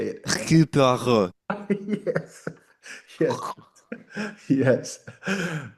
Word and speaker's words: Hercule Poirot: Oh my God, you have to pronounce it with a French accent. Like, I don't even know how to say it. Hercule Poirot.